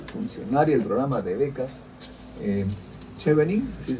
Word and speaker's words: Chevening: Estamos ahora con la señora Liz Nicole, funcionaria del programa de becas Chevening, ¿así se pronuncia? Chevening.